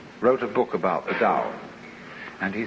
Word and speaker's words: Tao: called a dao tao pronounced dao in the mandarin dialect tao in the shanghai dialect told in the cantonese